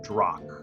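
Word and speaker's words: Drahq: village to the west is the village of Drak. Drunk. And that's spelled D-R-A-H-Q.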